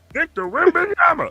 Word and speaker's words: Victor Wembanyama: Victor Wembanyama.